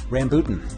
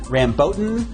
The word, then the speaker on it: rambutan: The correct answer, rambutan. Now there are several other pronunciations, including rambotan or ramboutan, or also, whoa, Black Betty, rambutan, Black Betty had some fruit, rambutan, whoa, Black Betty.